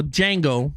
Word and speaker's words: Django: box office numbers for Django or Django because D is silent Unchained from uh what